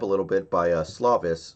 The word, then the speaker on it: Slovis: little bit by uh slavis slovis i think is how you say it's slovis so i don't know